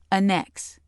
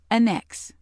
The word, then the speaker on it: annex: Being used as a verb, meaning to attach or incorporate, it is pronounced annex. Annex.